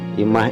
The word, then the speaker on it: imah: Nah, dalam huruf ma ini kita tambah tanda baca pangwisad ya. Jadi dibacanya imah ya. Pangwisad itu untuk menambahkan huruf H di belakangnya ya.